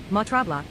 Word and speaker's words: Mont Tremblant: Ladies and gentlemen, as we continue our flight at 35,000 ft, below us is Mont Tremble. Mont Tremble, French pronunciation, Montrabla is a mountain of the Laurentian Mountains, reaching an altitude of 932 me.